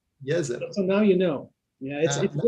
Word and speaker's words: Jezero: from this it's that it's not pronounced jezero it's yes it so now you know